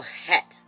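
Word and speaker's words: Chet: is is hit hat it's c-h-e-t but the c is silent so het and in a form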